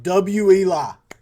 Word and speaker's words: Elie: The Wely, I'll say it right one more time. Wii Wii.